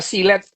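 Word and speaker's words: Gillette: Kan kita sering tahu ya sekarang yang namanya di swalayan itu ada apa silet mereknya Guilete Hmm. gitu. Lo itu dibacanya silet itu. Silet.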